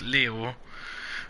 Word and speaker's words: Leo: the Glorious most venerable Leo ayokoi it's written with the kanji for lion to be sure but it's pronounced Leo I wager you interested